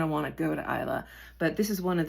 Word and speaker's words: Islay: It's pronounced Brookleti and it's on the island of Isa.